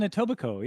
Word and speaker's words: Etobicoke: And one of the earliest ones, Showgirl, was filmed in, I'm going to pronounce this incorrectly, Etobicoke. Oh, in Etobicoke, yeah. Yeah. The K is silent.